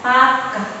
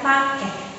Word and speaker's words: pakeh: Dibacanya pakeh ya, bukan pakeh.